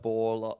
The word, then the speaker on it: Bourla: It's like Bourla. Bowl, How like do you bowl, spell it? Like Boulder, B-O-U. but without the D.